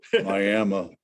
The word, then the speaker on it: Miami: Miami, if you want to say Miami, I'm gonna say it like a local. Miami, Arizona.